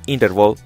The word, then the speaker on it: NTRVL: su línea de negocio NTRBL, que no es más que la pronunciación del acrónimo en inglés Interval, o en español Intervalo,